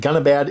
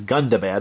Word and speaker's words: Gundabad: go to Mount gundabad I've been pronouncing this wrong in all my previous videos it's not it is not gonna bad it is gundabad apparently gundabad I don't know but